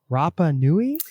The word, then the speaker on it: Rapa Nui: We're excited to talk about the book, of course, Moon, Chile, with Patagonia and Rapa Nui. Am I pronouncing that You are correctly?